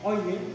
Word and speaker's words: Euler: Porque Euler es como se pronuncia su nombre en alemán. En español se diría Euler, pero sería como decirle de manera fea.